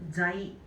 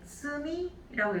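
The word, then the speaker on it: 罪: 그래서 이제 음독으로 읽어줄 때는 자이. 그래서 우리가 자이악감, 죄악감 이라고 얘기를 하죠. 그 다음에 얘를 훈독으로 읽어줄 땐 쯔미라고 읽게 되는데 이 쯔미는 죄라는 의미를 가지게 되겠죠.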